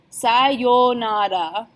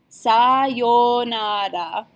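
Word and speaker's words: さようなら: hey then we'll use sayonara sayonara again oh you combination we're going perhaps it like a long oh sigh yo nada so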